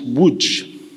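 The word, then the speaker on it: Łódź: my father was born in Lodge pronounced Wood on the 15th of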